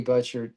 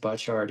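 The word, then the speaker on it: Butchart: And, uh, I'm going to talk about Harvey Butcher, who his name is pronounced Butchard.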